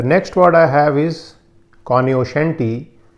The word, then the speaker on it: cognoscenti: The next word I have is cognoscenti. It's also sometimes pronounced as cognoscenti, that's C-O-G-N-O-S-C-E-N-T-I, and cognoscenti